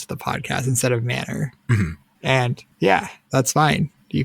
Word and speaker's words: M-n-R: the next question can I be allowed to pronounce it MNR like the letters of the podcast instead of Manor and yeah that's fine you could say the m r cast or the m r podcast there are